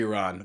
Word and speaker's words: Iran: Yeah, it should be Iran. But you know me, I'm an American, so I pronounce everything incorrectly.